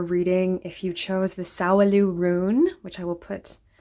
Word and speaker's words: Sowelu: Sowelu. I never know how to say it, but I think it's Sowelu.